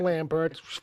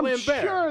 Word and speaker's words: Lambert: on me you know everybody calls him Lambert fair enough it might be he's French it's pronounced lamb sure which is precisely right